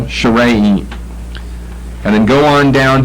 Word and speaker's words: Sharaim: I've got sharaim, short A, then long A, accent the middle syllable, sharaim.